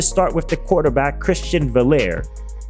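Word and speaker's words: Veilleux: We of course have to start with the quarterback Christian Valair. His name is simpler to say than the way it's spelled.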